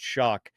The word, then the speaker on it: Shough: They're going to hear us talking about Tyler Shough. Look at a list of quarterback prospects and where is this Shough guy you're talking about? His name is spelled Shough, like Shough, but it's pronounced Shough.